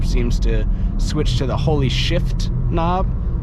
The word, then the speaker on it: Holy Shift: Everybody in the Mark 8 GTI Facebook group seems to switch to the holy shift knob. See how I pronounce the F, because I believe that's how it's supposed to be said.